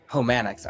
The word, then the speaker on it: Homanics: Homanics. Okay, I knew it was either Homonics or Homanics, but I you know what I mean, you never know if you want to pronounce manic as manic.